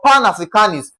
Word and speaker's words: Pan-Africanist: Words ending with I S T, the first label is stressed, okay? So A for Africanist, A is being stressed.